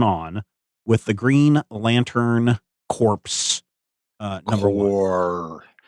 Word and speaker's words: Corps: What's going on with the Green Lantern Corps? Number one. The P is silent.